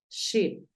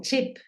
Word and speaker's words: ship: que haga silencio entonces tú dices ship no es tanto como chip no es esa tan fuerte como la que usamos en español Bin vamos con Bin